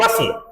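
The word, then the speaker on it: bustle: था there was great बसल बसल बसल बोलेंगे silent है बस का मतलब हल्ला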